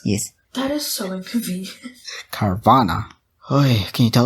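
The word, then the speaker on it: Carvanha: Yeah, Carvana.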